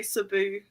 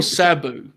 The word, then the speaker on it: Sabu: It must be I think I'm putting emphasis on the U and not the A.